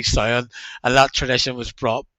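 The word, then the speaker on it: Samhain: Loomis, refers to it as Sam Hain, pronouncing it incorrectly. So for the rest of many, many decades, I referred to it as Sam Hain as well. But it's actually Sion, and that tradition was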